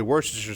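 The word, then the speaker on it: Worcestershire: it and say it that's just better if you just know to say wor iser sauce cuz you're not even trying to pronounce the sh in there bet you Hobbits love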